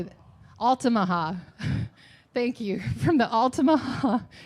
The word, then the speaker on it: Altamaha: Altamaha.